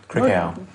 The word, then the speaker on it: Crickhowell: Crickhowell. No, it's over there. That's how you pronounce it.